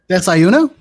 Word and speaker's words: desayuno: butchered how you say breakfast in Spanish. So, Run it back. Desayuno?